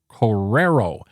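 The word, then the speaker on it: korero: It's spelled K-O-R-E-R-O and is pronounced Correro.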